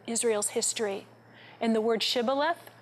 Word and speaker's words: Shibboleth: Now at the Jordan River, everyone who wanted to cross had to say Shibboleth. The men of Ephraim couldn't pronounce the sh, and they said Sibboleth.